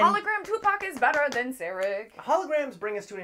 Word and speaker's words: Sarek: Yeah, Sarek.